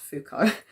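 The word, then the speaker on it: Foucault: theory developed by thinkers like Adono for actually pronounced fuko maruse and so on.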